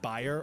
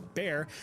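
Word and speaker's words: Bayer: BA or more commonly pronounced buyer or bear decided to take a stab in the lab to produce something fab.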